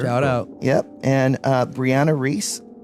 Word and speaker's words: Brianna: And Brianna Reese. Brie like the cheese is how she pronounces her name.